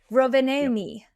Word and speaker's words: Rovaniemi: and then they went to, and I wanna pronounce this right, it's Ro Rovaniemi? Oh my god. Sure. Yep. Rovaniemi.